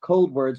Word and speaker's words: Coldwards: Facebook do first of all the band is pronounced cold wordss but it's spelled c o d w r